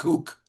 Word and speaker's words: Cuc: So Richard CUC, you pronounce it how you'd like on Twitter. The lack of quality at bats at the bottom of the Yankee We'll go with order. Kook. Kook? Kook. Okay, Yeah. Richard Kook.